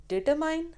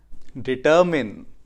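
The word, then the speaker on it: determine: 10 words जो हम गलत प्रोनाउंस करते हैं। Film, film, bulb, bulb, vehicle, vehicle, डिटरमाइन, डिटरमिन, बाईसाइकिल, बाइसिकल, relative, relative, economy, economy, एक्सेट्रा, एटसेट्रा, engine, engine, Saturday, Saturday.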